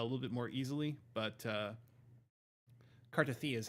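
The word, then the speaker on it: Cartethyia: But Cartithia is how they pronounce it.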